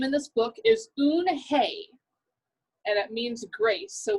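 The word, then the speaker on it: Unhei: the little girl's name in this book is un hey and it means grace so we'll find that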